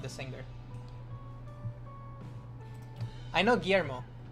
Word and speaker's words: Guillermo: The last pronunciation was good. Guillermo?